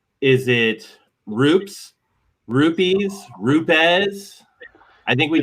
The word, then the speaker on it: RUPES: we start every training with these are the ways not to say it, and then there's the proper way, but it's RUPES. RUPES.